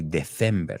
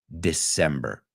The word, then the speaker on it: December: the problem I find with December sometimes people pronounce that SI a la Espanola and they say December and it's not it's December all right is everybody ready over here so